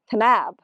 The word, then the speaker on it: Kanab: stool hudo trail near canab Utah and we're canab Utah you have to pronounce it the right way and we're heading